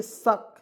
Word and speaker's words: suck: चलिए उसके बाद यहाँ देखिए SUCK शक, एस से लिखेंगे स, के से लिखेंगे क, और UC को इसमें साइलेंट कीजिए या आ के रूप में उच्चारण कीजिए, कोई दिक्कत नहीं, कोई दिक्कत नहीं होगा।